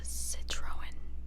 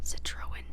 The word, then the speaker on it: Citroën: Just to add, Xavier's car was a Citroën, I believe is how you pronounce it, Citroën C5, and I'll put up a picture of it.